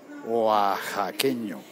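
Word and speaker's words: oaxaqueño: Edgar Wayne me dice dila como J guajaqueño oxaqueño con la x como J igual que en México se escribe con x pero se dice con j eh Como Jaja escribe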